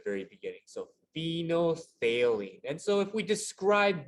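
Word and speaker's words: phenolphthalein: chemical here is called phenothalene so the ph sounds like a f at the very beginning so phenothalene and so if we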